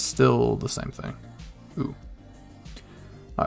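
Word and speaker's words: う: easiest one just because it's pronounced ooh like ooh and it's like a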